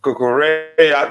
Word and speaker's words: Cucurella: Marc Cucurella.